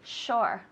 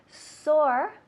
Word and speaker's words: shore: Pronunciation? Shore. Good with the shh, be quiet. Shore, yeah? Shore. Excellent. And at home, shore. Some people have an issue with the S and the SH. Sore.